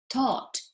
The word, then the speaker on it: thought: as you can see the only difference is the o and the a be careful with this because the pronunciation is the same you say ott ot